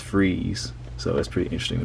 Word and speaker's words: Fries: His name is spelled Victor Fries, but it's pronounced Freeze. So that's pretty interesting to me. Well, at least like how I imagine fries, or how it would be pronounced, is fries.